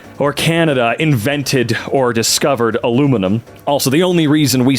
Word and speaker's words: aluminum: What's funny is, it was invented by an American, spelled aluminum, and pronounced alu-min-um, and suddenly Europe decided to change the spelling and pronunciation.